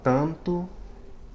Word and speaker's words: tanto: of a word, but at the end of a syllable, right, closing a syllable, it nasalizes the preceding vowel, sort of like the M does.